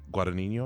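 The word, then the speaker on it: Guadagnino: director um Luca uh guadino I believe that's how pronounced leave the G's silent um also directed call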